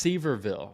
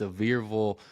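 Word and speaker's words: Sevierville: That's Severville. I was saying it wrong for a while. It's Sevirville, Tennessee. So we're doing that and I am excited about that.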